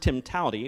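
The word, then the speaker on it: TIMTOWTDI: It's actually pronounced timtality, which, don't ask me, but there's more than one way to do it, right?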